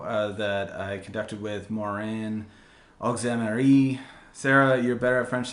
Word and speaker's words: Auxéméry: Auxéméry. Auxéméry.